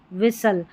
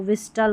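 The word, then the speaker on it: whistle: कास्टल होता नहीं तो विस्टल होता तो टी साइलेंट है।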